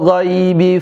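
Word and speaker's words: الغيب: Baik, perhatikan huruf g. Ikutin saya cara baca huruf gho ghi ghu. Bag. Oke. G bukan ge bukan go ya. Bukan gu gi tapi ghi ghu ya.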